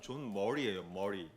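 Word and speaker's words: John Murray: 있는데 이분은 이제 사실 이 발음이 존 머레이라고 적었지만 정확히 말하면 존 머리예요. 머리가 맞아요.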